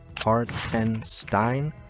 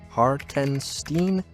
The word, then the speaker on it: Hartenstein: You might not even pronounce his name right. Hartenstein. Hartenstein.